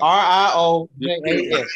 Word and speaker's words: Riojas: Riojas. R-I-O-J-A-S.